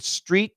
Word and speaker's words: street: Sucre, coach, the word street and straight. Yeah. So to the American, they're very different. The street is called a long E and straight is called a long A.